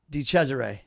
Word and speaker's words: DeChesare: DeChesare.